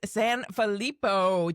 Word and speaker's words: Sanfilippo: Hello, Alex Sanalippo. Did I pronounce that correctly?